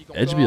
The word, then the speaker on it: Edgeby: I think he said Edgeby like with the J, like how I'm saying it right now is fine.